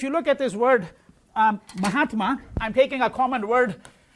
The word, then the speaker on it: Mahatma: So the A here becomes a long A because it combines with the A of the first word and the A of the second word, right?